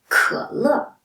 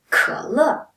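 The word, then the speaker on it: 可乐: So it is pick up several characters, sounds like cola. So it's 可乐. 可乐 in Chinese.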